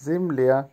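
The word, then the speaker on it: земля: জিমলিয়া, জিমলিয়ার অর্থ হবে জমি বা পৃথিবী, ইংলিশে ল্যান্ড অথবা আর্থ, উচ্চারণ হবে জিমলিয়া, জিমলিয়া, জিমলিয়া।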